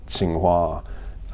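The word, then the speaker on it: Tsinghua: not sure I'm pronouncing this correctly but is Tsing hua University still something that you're associated with yes I go to China a couple of times a year to sing wah which is one of the two big universities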